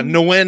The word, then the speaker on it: Nguyen: Yeah, Nguyen is how you pronounce That's it.